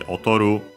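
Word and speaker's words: 劣る: Technically, it comes from the verb otoru, an accent, so actually otoru, low, high, high, which yeah, literally means to be inferior to, then to be less good at, to fall behind.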